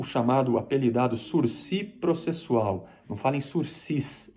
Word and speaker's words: sursis: cabe suspensão condicional do processo o chamado aprendizado sursi processual não fala em suicídio em breve sursis